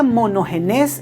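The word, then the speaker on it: μονογενής: escribió el nuevo testamento se pronuncia mono genes en esa lengua y es un término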